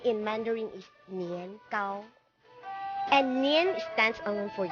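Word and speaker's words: 年糕: And also the tikoy, you have to offer that one also during New Year because tikoy, the pronunciation in Mandarin is nian, gao.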